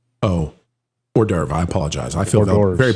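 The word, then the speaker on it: hors d'oeuvre: But uh especially as a horde divore. Hordavore. Yes. Yeah. I'm being told that's Hang on a second. Our French uh our French analyst is telling me that's pronounced o or derv.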